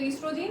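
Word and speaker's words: oestrogen: लिखा रहता एस्ट्रोजन में कुछ बुक्स में ओ लिखा रहता है ठीक है तो ओ साइलेंट है तो एस्ट्रोजन और प्रोगैस्टोजन दो हार्मोस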